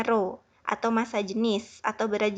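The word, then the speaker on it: rho: Ya Robbi ini yang seperti P ini dibacanya roh atau massa jenis atau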